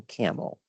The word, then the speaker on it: Campbell: Well camel is in fact Campbell but the pronunciation locally is often camel.